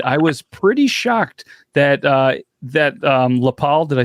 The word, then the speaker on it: Lapel: So we did a little research on the area, and I was pretty shocked that Lapel, did I say it right? Lapel? Yep, Lapel.